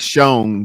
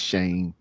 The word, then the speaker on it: Shane: It looks like Shone, but it's Shane.